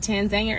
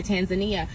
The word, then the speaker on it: Tanzania: So people are like, how do you say Tanzania? Is it Tanzania or Tanzania? Actually, they say it both ways.